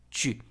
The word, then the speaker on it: tu: Algo pasa con el pronombre personal informal, tu, de la segunda persona del singular, tu. La letra U tiene un sonido distinto en francés al español.